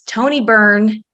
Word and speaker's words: Tony Byrne: And so I want to introduce Tony Byrne. That's how you pronounce it, correct, Tony?